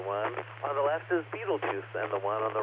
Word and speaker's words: Betelgeuse: is rachel fun monitoring Betelgeuse I really like to call a fatal guy I think it's the more accurate way of pronouncing butyl guys is not giving any